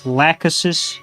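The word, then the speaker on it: Lachesis: Uh Budon, it's Lacasis. You dumbass. I keep pronouncing things wrong.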